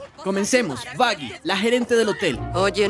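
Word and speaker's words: Vaggie: De hecho, se pronuncia Vaggy.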